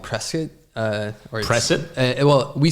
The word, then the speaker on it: Prescott: I grew up in a town called Prescuit. Uh, or well, we say Prescuit. That's like the the local pronunciation. It's spelled Prescott, but if you say Prescott, we know you're not from Prescuit.